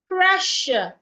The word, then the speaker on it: pressure: Pressure. In pleasure. The s u r e sounds. In pressure the s u r e sounds sh. So what has the sh sound?